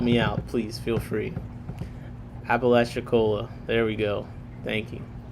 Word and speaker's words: Apalachicola: Mbrun said Apalachicola.